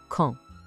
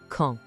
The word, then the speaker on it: quand: A gente não pronuncia o D no final de jeito nenhum. O som sai meio que pelo nariz, ó. Quand. Tenta sentir, vamos bem devagar. Quand.